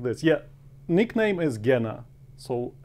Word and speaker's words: Gena: when I spell it, it's G-E-N-A. And if I tell it to somebody, it's Gina. And Gina is woman's name.